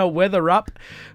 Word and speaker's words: Weatherup: Moving right along, what a great night it is with a fabulous artist in the studio, Weatherup. I pronounced it right that time.